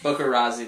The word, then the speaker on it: bookarazzi: i can't pronounce that bokeh razzie that's it's like paparazzi but for books people